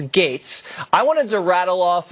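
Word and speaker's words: Gaetz: ridiculous it's GA etz it's pronounced gates but no one knows how to say that I'll tell them it's gates I wanted to rattle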